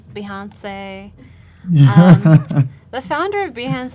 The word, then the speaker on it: Behance: last time yeah Jonas asked how do you pronounce behance Kathleen says Beyonce yeah the founder of Behance actually says the Hance yeah that's how I said to advance I